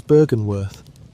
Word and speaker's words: Byrgenwerth: Its name is Byrgenwerth, which you may say it Byr-gen-werth, and it is here that the modern part of our story truly begins.